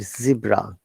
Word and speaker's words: zebra: We have to bear in mind zebra is British IPA, American side zebra.